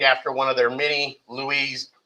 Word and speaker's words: Louis: one of their many louise louis kings looks like lewis but they pronounced it louis notice it's up here